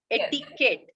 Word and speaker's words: Etiquette: Before that, Savita, ಇದನ್ನ ಎಟಿಕೆಟ್ ಅಂತಾರ, ಎಟಿಕ್ವೆಟಿ ಅಂತಾರ, ಇಟಿಕ್ವೆಟ್ ಏನಂತಾರೆ? Because so much of confusion. Usually people get confused. Etiquette, ಇದನ್ನ ಯಾವ ರೀತಿ ಪ್ರೊನೌನ್ಸ್ ಮಾಡೋದು? Etiquette ಅಷ್ಟೇ. Etiquette ಅಷ್ಟೇ. So this is how we pronounce it.